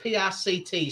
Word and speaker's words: Pict: It's Pict, so however you want to pronounce it.